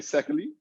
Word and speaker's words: Szekely: that uh no you're pretty close i say secondly so okay almost there all right secondly secondly